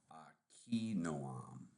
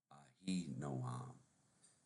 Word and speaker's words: Ahinoam: So Akinoam, Akinoam, Akinoam is the Hebrew, but in the English we would say Ahinoam, the Jezreelitis, and Jezreelitis